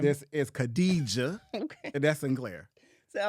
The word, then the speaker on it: Khadija: Radija. What's her name? Khadija. Girl, that's the same thing.